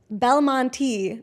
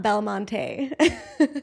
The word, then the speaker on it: Belmonte: So, Belmonte, not Belmonte.